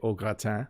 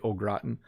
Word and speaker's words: au gratin: Like if there's potatoes au gratin, I know, sorry, French people, we don't say au gratin, we say au gratin.